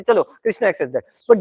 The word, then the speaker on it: कृष्ण: हाँ, हरे कृष्णा, कोई हरे कृष्णा, हरे कृष्णा, कृष्णा कृष्णा हरे, ऐसा होता है. हरे कृष्णो, हरे कृष्णो, कृष्णो कृष्णो हरे, ऐसा. मतलब सबका अलग अलग प्रोनाउंसिएशन, ऐसा नहीं.